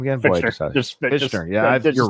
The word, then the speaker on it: Fichtner: Fichtner. Fichtner. Yeah, you're right. Ignore the T, just Fichtner.